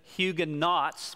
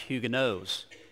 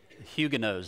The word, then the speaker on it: Huguenots: board back up all right okay the Huga hugin knots was what we usually say but apparently it should be pronounced or it is pronounced huguenotes huguenotes that's why I put that there for you